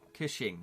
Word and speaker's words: Cushing: I can't pronounce his name. Cushing.